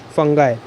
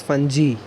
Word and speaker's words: fungi: Fungi. We do not pronounce it as fungi.